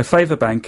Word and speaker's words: Favabank: So Favabank is a website, and it's spelt favour as in F-A-V-A, but it's a website